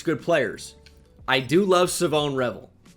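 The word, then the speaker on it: Shavon Revel: I do love Savone Revel.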